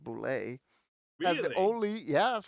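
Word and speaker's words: Bulette: the boo Abu yeah actually I always say bullet but it's uh Boule the boulet pronounced boulay yeah the only yeah that's how I said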